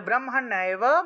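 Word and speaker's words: ব্রহ্মণা: দেখুন উক্তানি নামানি ব্রহ্মনায় মূর্ধন্য আছে তাহলে ব্রহ্মান্না মহাত্মনা ব্রহ্মান্না মহাত্মনা ব্রহ্মান্না মহাত্মনা এভাবে উচ্চারণ হবে তারপরে দেখুন অগ্নিনা অগ্নিনা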